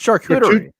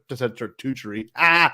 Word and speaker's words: charcuterie: How did you pronounce that? It's charcuterie. Charcuterie. Oh, I said charcuterie.